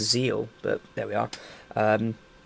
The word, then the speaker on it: ZEXAL: apparently isn't actually pronounced Zexal the x is just a mark so it's actually just Zeal but there we are